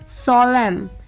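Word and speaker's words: solemn: साइलेंट letter N एंड the rule is एन is often साइलेंट when following M एट द एंड ऑफ a word last में जब एम आता है तब एन साइलेंट होता है जैसे ऑटम एच वाई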